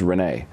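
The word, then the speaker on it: René: It's a French-Canadian name, and in English it's pronounced, but in French it's Rene.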